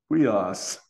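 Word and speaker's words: υἱός: Yeah, but it's a diphthong, which is like a we sound. Okay, thanks. But then you have the rough breathing, so it makes it like we huios, like that.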